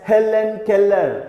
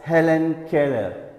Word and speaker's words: Helen Keller: E ll we are though we write a letter twice we read it only once you shouldn't read it as Helen Keller no that's wrong then